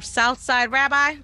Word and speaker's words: Southside Rabbi: And I guess he was a Southside Rabbi. Did I say it right? Yes.